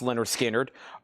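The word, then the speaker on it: Lynyrd Skynyrd: Also, Leonard Skinner, pronounced Leonard Skinner.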